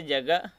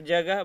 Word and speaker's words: جگہ: کی مثال دیکھتے ہیں، وہ ہا جس کا تلفظ نہیں کیا جاتا ہے، جیسے جگہ، تو جگہ بولا جا رہا ہے، ہا کا ان کا ساؤنڈ نا کے برابر ہے۔ بعض ہائے مختفی کی